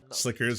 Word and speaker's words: Sliker: blowing it all away in uh in gambling Slickers how it's pronounced all right what to say it's time